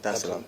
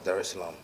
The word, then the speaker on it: Dar es Salaam: of the 7th, to come straight to Tanzania, Dar es Salaam. Did I pronounce that right? Yeah. Dar es Salaam. Okay, cool. Dar es Salaam.